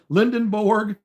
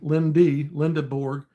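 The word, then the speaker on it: Lendeborg: And you hope, maybe if you could get Lindenborg and Lindenborg, however you pronounce that, Linda, not N, Lindeborg.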